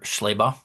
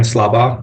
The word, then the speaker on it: Slabach: Mr. Schleybaugh. My name is Slabach. I swear to tell the truth. I apologize for the mispronunciation.